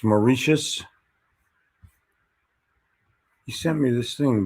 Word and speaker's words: Mauritius: can find that real quick i'm tired of mispronouncing stuff um uh it's mauritius he sent me this thing but i don't